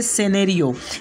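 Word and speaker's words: scenario: उसके बाद का नेक्स्ट रूल है हमारा कि जब एस के बाद सी आ जाए तो सी साइलेंट होगा।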